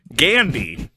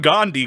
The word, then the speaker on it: Gandhi: rest of the world, Gandhi. Not Gandhi, Kyle. Gandhi. Spelled like candy, Wow. but with a G.